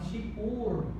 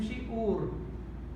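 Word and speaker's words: שיעור: Para recordar, este é o Hirik e este é o Vav Shuruk. Esse apresenta som de I, vogal I e este som de vogal U. Então, shiur, shiur, vamos transliterar shiur, shiur.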